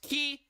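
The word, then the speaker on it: き: And this is ki, pronounced ki, as in a key. Key, or key, but you can't... Yeah, so key as in key, but you sort of want to short down the E sound at the end of key.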